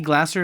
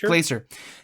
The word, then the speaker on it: Glaser: We discussed a few weeks back, Nikki Glasser is going to be, that's how you pronounce her name, Glasser? Nikki Glasser is going to be hosting Glaser? Nikki Glaser is going to be hosting the Golden Globes, right?